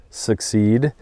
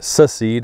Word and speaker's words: secede: California does succeed, or secede is I think the correct way to say that.